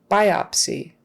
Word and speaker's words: biopsy: okay let's see biopsy biopsy kind of spelled like it's sounds spelled like it sounds the stress is on the first syllable biopsy not biopsy biops I opsy biopsy um yeah it's one of those things where if you don't put the stress on the right syllable they're going to get